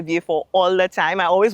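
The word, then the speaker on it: Vieux Fort: understand um and why I just refuse to say view and always say V4.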